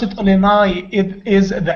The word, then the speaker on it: Illinois: Do we pronounce it Illinois?